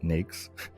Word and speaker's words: NAICS: A NAICS code, pronounced NAICS, is a classification within the North American Industry Classification System.